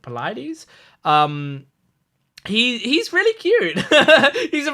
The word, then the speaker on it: Polites: I know how I've seen it's spelled sort of like polite. I'm just trying to remember how to pronounce it. Polites.